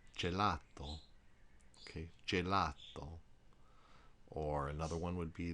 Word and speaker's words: gelato: a sea is except the soft G is g j is in jello one word you may